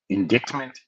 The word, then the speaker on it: indictment: is the c for indictment like what what is the c in indictment for I can't see deceive's purpose I don't understand silent letters but whatever letter is